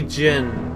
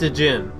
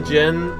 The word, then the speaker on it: djinn: The djinn. When I was a kid and I was first playing this game, I didn't know that the D was silent, so I pronounced it djinn.